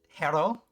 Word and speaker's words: Gero: And I also feel like is it Hero? Like I pronounce the G as an H. It is Hero.